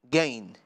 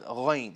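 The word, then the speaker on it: غين: It becomes gain. Gain or ghain? Okay. I know you guys are trying to spell it, yeah? Okay. All right. Muskan, well done. It becomes ghain, yeah?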